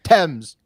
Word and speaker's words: Thames: Thames, I think, is The River how they say it. Thames. But they say Thames.